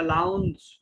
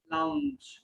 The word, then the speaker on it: lounge: Once all of them are done, they walk towards the passenger's departure lounge. Launch না, এটা লাউঞ্জ। কি হবে উচ্চারণটা বলো? Lounge. লাউঞ্জ।